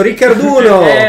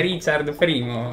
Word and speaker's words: Richard I: No, sulla scatola c'è scritto Riccarduno. ho capito, ma la pronuncia è Richard I, è un personaggio storico.